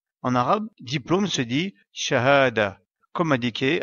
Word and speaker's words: شهادة: En arabe, diplôme se dit shahada, comme indiqué à la droite de l'écran.